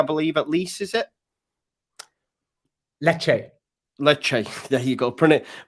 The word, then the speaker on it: Lecce: Lecce. There you go.